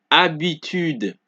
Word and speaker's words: habitude: So, the H in French is silent. Therefore, H is never pronounced during the articulation of a word. Example, homme, histoire, hôpital, habitude. Do you guys see that I do not pronounce the H at all?